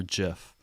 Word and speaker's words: GIF: a jpeg nice nice do you guys call it gif or jiff i mean i don't care if it was originally meant to be pronounced jif if you pronounce it like jiff you're a fucking psychopath a fent 936 averio